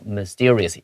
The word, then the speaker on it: mysterious: 它以前呢，我们这个小镇是有一个很大的一个公共图书馆的。然后 that burned down mysteriously. 突然之间神秘的就整个就烧毁了。 Okay, underline mysteriously and draw your line between mystery and mysteriously. 第一段的 mystery, we stress the first syllable. Mysterious, we need to stress the second syllable.